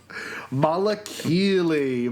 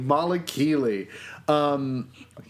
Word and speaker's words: Malakili: Malakili. Malakili.